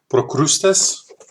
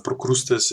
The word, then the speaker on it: Procrustes: This one, Lord, and I'm gonna say it in Dutch, Procrustes, because pronunciation of Procrustes is more like Latin based than Procrustes.